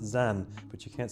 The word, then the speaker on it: Xen: We hope you'll love the comfort the the comfort um and you'll love your the comfort and support of the Zen pronounced Zen, but you can't spell comfort right.